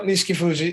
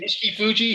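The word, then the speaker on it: Nishikifuji: I'm probably mispronouncing that. Yeah, no, Nishiki Fuji. Nishiki Fuji.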